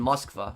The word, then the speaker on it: Moskva: Well, Moscow would be probably pronounced in Russian Moskva, right? That's probably how it would be pronounced.